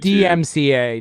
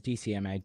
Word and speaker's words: DMCA: DMCA, not DM DCMA. DMCA, digital marketing copyright.